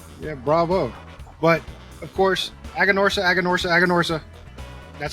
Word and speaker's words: Aganorsa: But of course, Aganorsa.